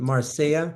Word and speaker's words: Marseille: Finland, and then I will join him in Marseille. Marseille, man, I don't pronounce.